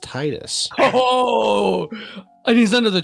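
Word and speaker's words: Tidus: you get the ending the secret ending um tetus comes back and he tells you that it's pronounced Titus oh and he's under the truck no no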